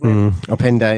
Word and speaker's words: Openda: should have went and and closed down up opinia is that how you pronounce his openda yeah and and openda sorry and and then